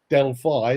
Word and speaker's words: Delphi: So I've helped everybody pronounce the word Delphi as Delphi instead of Delphi.